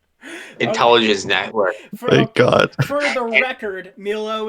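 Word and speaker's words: Milhaud: Network for the record Milo is spelled m i l h a u d not milous Contin euros and we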